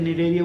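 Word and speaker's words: Cnidaria: ठीक है, सी साइलेंट रहता है, इसे निडेरिया बोलते हैं, इसे टेनोफेरा बोलते हैं।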